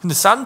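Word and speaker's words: 三: 얘기를 하는 거예요 그 중국말로 3 포도를 발음 어떻게 합니까 3% 숫자 3 의 숫자 3은 싼 이라고 밥 싸 쌀 1톤 똑같네 싼 풀어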